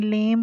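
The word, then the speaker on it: lamb: और उससे आगे लेम, बी जो है लिखेंगे, पढ़ेंगे नहीं, लेम पढ़ेंगे इसको।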